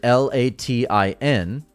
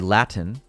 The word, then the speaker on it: Latin: to say the word L A T I N, I don't pronounce the T. Whereas in the UK, someone might say Latin.